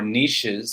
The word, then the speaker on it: niches: No, these are 6 awesome niches that, or niches, if you want to pronounce it the French way.